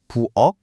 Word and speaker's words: 부엌: 부엌의 받침은 키역이고 밖의 받침은 기역이죠. 하지만 발음할 땐 둘 다 똑같이 부엌, 박처럼 기역 소리로 끝납니다.